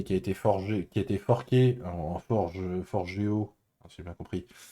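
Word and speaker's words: Forgejo: Euh, le gouvernement néerlandais s'est amusé à monter une plateforme basée sur, alors je sais, Forgeo, c'est ça? On ne prononce pas le J si j'ai bien compris.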